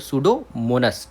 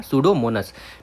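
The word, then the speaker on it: Pseudomonas: पूछ रहा है तो सूडोमोनस ठीक है क्या सूडोमोनस पी एस ई डी P silent रहता है ठीक है डो मोनस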